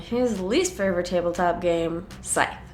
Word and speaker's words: Scythe: least favorite tabletop game, Scythe. Or as I've recently learned, pronounced Scythe. I will not be correcting myself in the future.